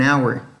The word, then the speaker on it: hour: Dirán, oiga, pero yo escuché alguna vez que dijeron an hour, y hour, hora, se escribe con h.